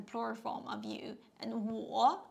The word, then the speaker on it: 我: Yeah, 我, yeah, 我, 我, third tone, I, 我.